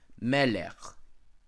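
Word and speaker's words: מלך: cases, a long vowel sometimes tone long, as in the first syllable of the words like melech. Melech, where is regularly takes the accent, sometimes pure long, arising out of I, like tivchena.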